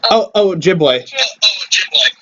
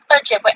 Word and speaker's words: Ojibwe: The how do you pronounce it again? Ojibwe. Ojibwe.